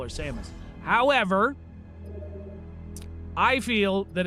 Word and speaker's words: Samus: The announcer pronounces it Samus, not Samos. That is not to say that saying Samus is wrong.